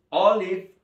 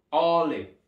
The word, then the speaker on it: olive: El aceite de oliva se escribe así en inglés y tenemos acá esta O marcada en negrita porque tenemos que entonarla alto, y es olive. Miren cómo termina acá, con B, olive.